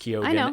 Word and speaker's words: Keoghan: Like the main character played by Barry Keoghan. Yes, it's pronounced Keoghan, and we confirmed this.